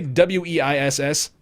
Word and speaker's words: Weiss: Ignacio0891, A1 Base, HD, how do you say W-E-I-S-S? Weiss, HD Weiss. Yep.